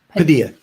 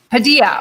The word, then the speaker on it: Padilla: And is it Padilla? Did I say that right? Padilla. Padilla. Okay. Don't pronounce the L's.